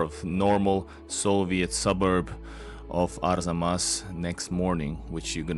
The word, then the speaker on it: Arzamas: of Arzamas, which I had so much trouble pronouncing, but now I got it. Arzamas, it's easy now.